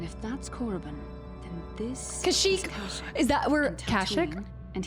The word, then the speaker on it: Kashyyyk: It's not Kashyyyk, right? It is Kashyyyk? Okay. I thought Cashew too. I was thinking, I was like, hold on. Have I been saying it wrong the whole time?